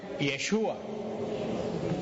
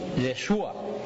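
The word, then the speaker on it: ישוע: hebreo no se pronuncia Jesús en hebreo se pronuncia yeshua yeshua Y ustedes saben Cuál es en español el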